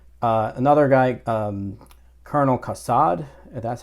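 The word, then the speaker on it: Kassad: that's father Hoyt uh another guy um Colonel casad that's how you say his name he tells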